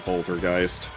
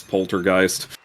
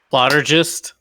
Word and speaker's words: Poltergeist: you would be amazed how many people actually don't know how to pronounce Poltergeist heard a lot of interesting variations on that plotter gist can I get one ticket to plotter gist the most common one I heard was polter Gees um I did occasionally